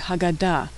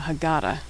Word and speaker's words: Haggadah: Hey is the first and last letter of the word Haggadah, the book we read at Passover Seder, what most Americans call a Haggadah.